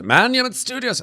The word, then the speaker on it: Monument Studios: And Monument Sound, Monument Studios, not Monuments, Monument Studios, I will say it right one of these days.